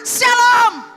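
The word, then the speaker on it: שלום: Jadi shalom yang betul dia tidak pakai SY. Dan saya bilang sekali, shalom itu pakai SHLOOM. Dia saya pakai O3. Dia ada tanda-tanda bacanya. Jangan sabarlah bala pakai SY.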